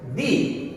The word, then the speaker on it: the: যদি কোনো ওয়ার্ডসের শুরুতে ভাওয়েলস অথবা ভাওয়েল সাউন্ড থাকে তাহলে তার পূর্বে যদি তোমরা এই আর্টিকেলটিকে ব্যবহার করো তাহলে তার উচ্চারণ হবে দি।